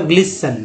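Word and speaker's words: glisten: क्या हुआ, ग्लिटेन, क्या पढ़ेंगे इसे, ग्लिस, टी साइलेंट होगा तो ग्लिसन, ग्लिसन, ठीक है ग्लिसन।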